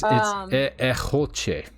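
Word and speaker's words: egeltje: It's Echoche is actually how it's pronounced. What? Yes. She just calls it Eggy because she gets tired of people pronouncing it incorrectly. It's the word hedgehog in Dutch.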